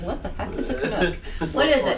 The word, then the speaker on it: Canuck: It's just pronounced Canuck.